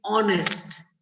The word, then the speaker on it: honest: Like for example, I will say honest, honest. Again, I'll repeat honest. So when I'm saying honest, the sound is coming off O.